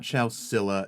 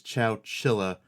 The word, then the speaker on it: Chowchilla: It's not Chowcilla, it's Chowchilla with another H.